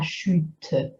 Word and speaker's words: chute: We don't say la chute, just one syllable, chute.